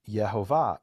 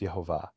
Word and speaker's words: Yehovah: And he says, well, if you pronounce the vowels the way that it's written, it would be Yehovah.